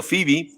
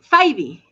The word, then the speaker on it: Fyvie: Yo le estoy diciendo Phoebe. ¿Cuál es la pronunciación correcta? Es Faibi. Faibi, ok. Faibi, sí.